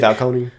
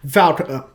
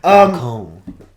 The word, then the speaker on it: Falcone: Do you really want to keep Maroni when you could just have some basic Falcone? I mean, I'm sorry, Falcone. Yes. Falcone. Falcone. That's how you pronounce it. Falcone.